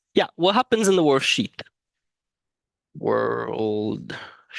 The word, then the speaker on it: worldsheet: So yeah, what happens in the worldsheet? Worldsheet. Gotta be careful to pronounce the E for long enough time.